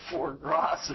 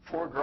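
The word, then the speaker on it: foie gras: about a pound of for grass or something like that for GR I guess is the way it's pronounced uh it's pretty pretty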